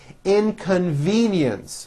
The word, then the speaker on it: inconvenience: call i left immediately inconvenience four syllables and there is also